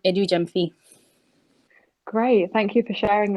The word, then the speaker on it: Adu-Gyamfi: If you say it with an English accent, it's Adu-Gyamfi. But my name is Adu-Gyamfi.